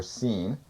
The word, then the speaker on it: Shin: Shin, in Hebrew, it's pronounced SH or S, so it's either be Shin or Seen, means a tooth.